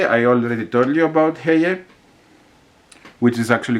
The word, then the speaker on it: Heye: I have heard many people say it Heye, but it's called Heye. I asked people from Germany how do they pronounce it, and since it's a German brand, it's probably Heye.